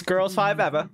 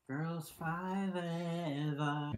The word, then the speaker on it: Girls5Eva: which you have to say it like that, just like Totally Killer. It's Girls5Eva. You gotta take yourself back to the early 2000s. The early aughts. Girls5Eva.